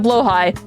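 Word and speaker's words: Blåhaj: She has an entire TED talk about the the history of blowhigh. You need to educate yourself. Well, blow high is technically the way you're supposed to pronounce it.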